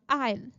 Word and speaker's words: aisle: है सो it's called आयल द एस इन द आयल is silent the next word is accident.